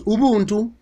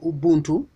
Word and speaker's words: Ubuntu: Basically, Ubuntu, or Ubuntu, you may pronounce Ubuntu or Ubuntu.